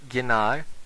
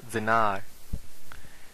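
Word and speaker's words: Gjenâr: È caratterizzato da un uso della lettera Z, per esempio, Gienar è pronunciato come Zenar.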